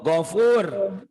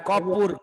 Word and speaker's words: Gofur: Gogigu kan bacanya ho. Go Gogigu. bukan ko, salah. Gofur, bukan kopur.